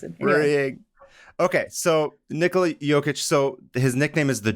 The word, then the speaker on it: Jokić: jokester but just because his last name is spelled j o k i c and like some one of his teammates was like oh I don't know how to say like yic so you're just joker